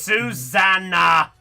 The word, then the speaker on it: Susanna: It's Susanna. So that. Yeah, think of the song. Oh, Susanna, that one.